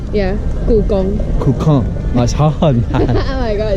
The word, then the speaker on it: Gugong: Gukong. Gugong. Let me say it right. Yeah. Wait, let me say it. Gukong. Gukong. Gugong. Gukong. Not Kong. The Gong. Gong. Yeah. Gugong.